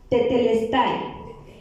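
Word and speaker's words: τετέλεσται: Así es que busqué la palabra consumado, y en griego la palabra consumado se pronuncia tetelestai.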